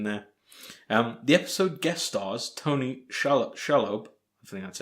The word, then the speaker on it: Tony Shalhoub: The episode guest stars Tony Shalhoub, I think that's how it's pronounced, as Dr.